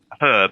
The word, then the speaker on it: herb: do you is it does herb have a silent hate like no there we